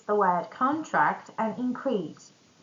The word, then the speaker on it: contract: If we put the stress on first syllable in both words, it's going to be a noun. And when we put the stress on the second syllable, it's going to be a verb.